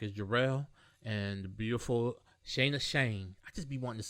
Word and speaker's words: Shana Shayne: People say Shana Shayne. That's how you say my name. Like Diamond Cuts. Like Flavor Flav. That's how they say Shana Shayne.